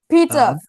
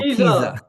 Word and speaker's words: Pisa: Oh my goodness, it's an Italian person near the Leaning Tower Pizza. well, Pisa. Pizza. Pizza. Pizza. I mean pizza. Yeah, Pisa.